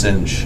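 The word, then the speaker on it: sinh: the function I mean this is pronounced singe the less cost rhymes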